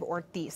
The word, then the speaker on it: Ortiz: It's pronounced Representative Ortiz, Senator Kavanaugh.